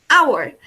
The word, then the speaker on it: hour: We also use an before words that begin with a silent H. También utilizamos el an cuando una palabra empieza por una H muda. Por ejemplo, hour.